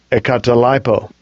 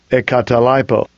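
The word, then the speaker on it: ἐγκαταλείπω: So here I'll get the pronunciation. Strong's G 1459. Ekatalipo. Ekatalipo.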